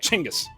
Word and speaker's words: Chingis: First, it's funner to say Chingis. Chingis. I'm just having a great time. Second, Gingis is the westernized version of his name, and Chingis is closer to how it would be pronounced in Mongolian.